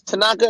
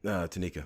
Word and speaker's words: Tanika: That's what you like, Miss Tanaka. Did I say it right? Tanika. Yeah. Tanika.